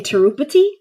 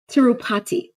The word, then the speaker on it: Tirupati: What do the visitors do in Tirupati?